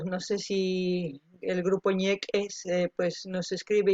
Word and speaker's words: Ñeq'e: Ñeque, es con una apóstrofe, como se pronuncia. Yo digo ñeque, pero es ñeque, así como ñeque, como suena, porque tiene una apóstrofe entre la Q y la E.